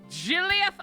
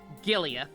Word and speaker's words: Giliath: Giliath. No, it is off. Giliath Osborne. They have really, really dumb names in Alabama, don't they? Oh no, it is a hard G.